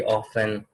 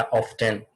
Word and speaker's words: often: उसके बाद special questions हो जाते हैं, जिस तरह ऑलवेज, यूजुअली, ऑफन या ऑफ्टन, ठीक है, दोनों वर्षों से आप प्रोनाउंस कर सकते हैं।